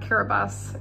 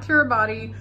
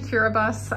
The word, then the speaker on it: Kiribati: just got to Tarawa kiribus it's pronounced kiribus not Kiribati you'll hear it pronounced both ways but it's supposed to be curabus um basically the ti makes the S sound so if you see